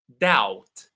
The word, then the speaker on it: doubt: So these are three words where the B is silent. Climb, we saw this earlier. Thumb, doubt, no B.